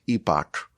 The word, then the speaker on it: epoch: The next epoch, it's actually pronounced epic.